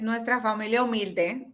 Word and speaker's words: Nuestra Familia Humilde: It's Nuestra Familia Humilde, but it's actually my humble family.